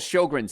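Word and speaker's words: Sjögren: sign of immune system problems there's something called sjogren's syndrome now if you've ever seen it spelled it's s-j-o-g-r-e-n it's pronounced sjogren and your immune system dries up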